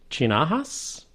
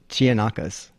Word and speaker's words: Chianakas: I pronounce this right, Chinahas? That's a K. Chianakas, I would say.